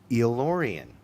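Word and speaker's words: El-Aurian: Yeah, let's phonetically break it down. It is like a eel, right? Like does the first part would be eel, right? And then work with me, people. Orion. Elorian.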